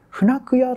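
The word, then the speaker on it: 船越: けども、現地のことで、船久屋と読みます。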